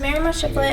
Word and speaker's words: Maryemma Shiflett: Maryemma Shiflett, did I pronounce that right? Yes, sir. Hello, my name is Maryemma Shiflett, and I live at 116 Dusty's Road.